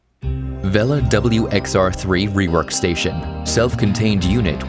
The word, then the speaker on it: Weller: might be familiar with Weller soldering eyes which are really popular they're great brand prepare to have your mind blown because we've been mispronouncing it this whole time Villa wxr3 rework station self-contained